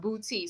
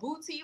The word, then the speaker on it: Boutte: or you go to, now the town is pronounced Boutte. So there's no accent on the E or whatever. It's pronounced Boutte. So there's a whole town called Boutte, Louisiana, baby.